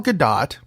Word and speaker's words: Gadot: Wonder Woman herself gal gadot because you pronounced the t had some comments about the passing of dr.